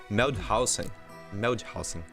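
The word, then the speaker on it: Moellhausen: Porque a nossa representante, a Nathalie Meldhausen, tá? Essa é a pronúncia.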